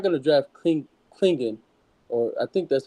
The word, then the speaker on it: Clingan: draft Clingan they're not going to draft cling Clingan or I think that's how you pronounce his name to be a backup yeah